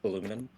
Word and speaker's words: aluminum: Did you know that aluminium, the incorrect pronunciation of aluminum, was a misspelling caused by someone who just didn't like the word aluminum in 1814, Oh.